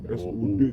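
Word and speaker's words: should: of shoot and must. Shoot itu seharusnya masuk ke harus. Kalau mas harus. Kalau Shoot harus. oh, shoot. Itu. baca bukan shoot kan. Gue shoot kalau sekarang. SHO Bacanya tuh SUD cok.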